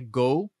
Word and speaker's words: GHO: Então, aqui diz, ó, a pronúncia certa é Go, tipo de Ghost, por isso que chama GHO.